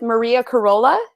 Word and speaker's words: Maria Carola: I'm Sonia Mann, and I'm here with Maria Carola. Is that how you pronounce it?